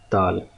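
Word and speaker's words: دال: So dal is, it in English language it can be pronounced as dal. Okay, the only alphabet which resembles to this alphabet in English language is dal, D. Okay, so D has a strong sound, but this dal, dal.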